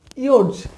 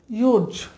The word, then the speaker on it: yours: তাহলে দেখুন ইটস ইয়োর্স, এটা সঠিক হচ্ছে আমার সেন্টেন্স। ইটস ইয়োর হবে না, ইটস ইয়োর্স হবে, আর এই এসের উচ্চারণ হবে জেড এর মতো, ইয়োর্স।